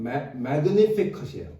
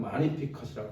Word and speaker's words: Magnificat: 그래서 이 마리아의 기도가 영어로는 magnificat이에요. 그런데 이제 라틴어 발음으로는 magnificat이라고 그런다 그래요.